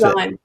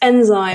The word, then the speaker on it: Nzime: no oh no all right how do you pronounce enzy it's enzyme enzyme well that makes more sense yeah that's